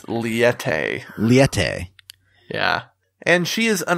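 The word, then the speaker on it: Liete: Is it I couldn't figure out how to pronounce it. I know she says it once, but I couldn't remember. It's Liette. Liette.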